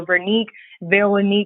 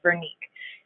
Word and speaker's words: Vernique: So my grandfather's name is Vernique, but it's pronounced the same in French, Vernique.